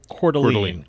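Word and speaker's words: Coeur d'Alene: D Apostrophe a l NE e and it's pronounced cordine Calene Calene Casino Resort hotel and also one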